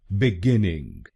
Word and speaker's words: beginning: और ये ध्यान रखिए कि हमको दूसरे शब्दांश पर यानी GINN पर जोर डालना है। beginning, beginning। गलत प्रोनाउंसिएशन में हम पहले शब्दांश पर यानी BE पर जोर डालते हैं, beginning।